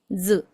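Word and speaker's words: づ: Acá Ya dos sonidos distintos que no son di y du, sino que son ji y zu.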